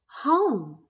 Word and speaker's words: home: Home. Were you noticing that that word home also had a silent letter? Yeah, that E at the end. When we flipped that vowel sound, that O, we heard its long sound, but that E was silent.